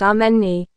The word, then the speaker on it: Amani: My name is Ammani and it's actually pronounced Ameni.